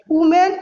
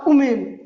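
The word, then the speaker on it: women: बच्चे कहते हैं वुमेन और वुमेन, नहीं, गलत है। इसको बोलते हैं वुमेन और इसको बोलते हैं वीमेन।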